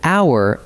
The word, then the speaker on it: hour: We write it with an H, but the H is silent, so hour opens with a vowel sound.